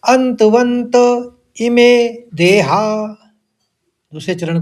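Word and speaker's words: अन्तवन्त: आप इसको पढ़ लेंगे पहले शब्द में अंत दो नौ का उच्चारण लेंगे ऐसे ही दूसरे में व के ऊपर आघात है तो फिर वहां पर भी दो नौ का उच्चारण लेना है अंतवंत इमे देहा दूसरे चरण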